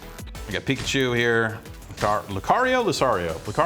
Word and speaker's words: Lucario: luar Lucario lario Lucario I say Lucario but I think I said that once in message boards kept saying I said it wrong so it's probably Lucario but I'm going to say Lucario I all right I don't